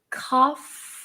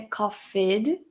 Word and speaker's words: coughed: Então, na hora de pronunciar esse verbo no passado, você vai falar coughed. Cuidado que não é coughed, fed, não tem essa vogalzinha no meio. Faz direto do F pro T. Coughed.